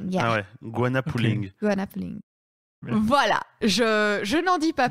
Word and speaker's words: Goanna Pulling: Alors, vous allez faire une interview sportive sur le, alors j'espère que je le prononce bien, Guanapolling. Donc, G-O-A-N-N-A, polling. pulling comme tiré. Ah ouais, Guana pulling.